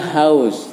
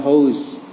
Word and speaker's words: house: Kemudian house bacanya house, jadi bukan house. Jadi OU ada yang dibaca AU.